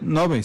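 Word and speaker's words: Ngäbe: También está el tema de en el lado de Zixaola, también transfronterizo de los indígenas Nogbe, creo que la pronunciación está bien, Nogbe. Nogbe, sí.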